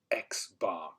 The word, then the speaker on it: X-bar: we call bar so n with the prime is pronounced as n bar and if we have an X in the tree we call it X bar so this is where